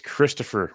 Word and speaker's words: Christopher: oh yansy eaten it's Christopher by the way Bubba the H is silent y oh that's great